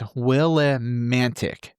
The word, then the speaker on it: Willimantic: Back in 1986, Willimantic, I can't pronounce this word. It's Willimantic, Connecticut.